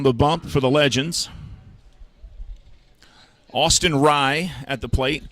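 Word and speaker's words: Austin Rei: Austin Rye at the plate. Last name spelled R-E-I, pronounced like rye bread, Austin Rye.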